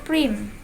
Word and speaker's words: Prime: kece adalah langkah ke-1 disebut Prime dibacanya Prim Prim Prim itu adalah